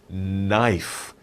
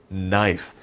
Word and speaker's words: knife: not knife andeo it's knife knife the k is silent shh don't say the k it's just knife but we spell it with a k knife english is crazy i'm sorry okay okay 15.